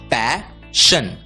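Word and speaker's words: passion: आई ओ एन दोस्तों इस शब्द में भी एस आई ओ एन आया है एस आई ओ एन की आवाज होती है शन और इसलिए पी ए एस एस आई ओ एन का उच्चारण होगा पैशन पैशन words ending with T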